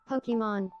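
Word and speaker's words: Pokémon: Pokemon. Did they? Let's see. Pokemon. They did. They said it correctly because it has the accent on the E. Let me see this. Oh, so you're obsessed with Pokemon, are you?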